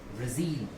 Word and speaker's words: Brazil: जैसे कि मैं देख सकते हैं ZIL पर ये अंडरलाइन है ZIL. तो इसको हमें स्ट्रेस देके बोलना होगा. इसका सही प्रोनाउंसिएशन हो जाएगा ब्राजील. एक बार मेरे साथ बोलिए आप लोग, क्या हो जाएगा? ब्राजील.